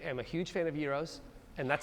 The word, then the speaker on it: gyros: I am a huge fan of gyros. And that's how it's pronounced.